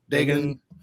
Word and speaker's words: Dagon: Is that correct pronunciation? Dagon? Yeah, Dagon.